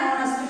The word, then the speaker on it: honest: An honest man. An honest man. It is a consonant, but it produces the sound of a, the first sound is that of a vowel.